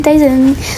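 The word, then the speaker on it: Tayzan: Et ça s'écrit T-A-Y-Z-A-N. T-A-Y-Z-A-N. Il s'appelle Tyson.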